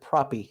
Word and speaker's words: Propy: dive or is it propy proppy they call it pro but the ceo pronounces it proppy so okay we'll go